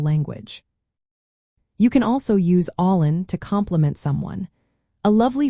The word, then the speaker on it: álainn: One of the most delightful words to learn is beautiful, which translates to allin in Irish Gaelic. The pronunciation of allin is all in.